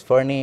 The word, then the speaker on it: Fernet: There is also a debate on whether to pronounce it as Fernie or Fernet, but I guess Fernet is okay.